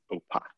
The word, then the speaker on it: OPA: It literally says pronounced OPA.